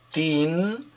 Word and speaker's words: teen: Si pronuncia, teen, il finale, ma è scritto T E E N. Questa doppia E, queste due E vicino, si pronunciano come una I.